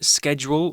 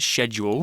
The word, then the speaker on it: schedule: all pretty casual well the word schedule or sometimes pronounced schedule here schedule is a noun